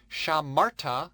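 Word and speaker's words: שָׁמַרְתָּ: Shamarta means you kept, you masculine singular. Notice the accent on the second last syllable.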